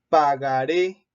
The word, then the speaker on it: pagaré: Pagaré, termina en es decir, termina en vocal, esta es su sílaba tónica y por eso se acentúa.